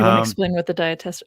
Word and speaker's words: Diatessaron: Do you want to explain what the diatessaron, I pronounce it diatessaron, but diatessaron, what that is?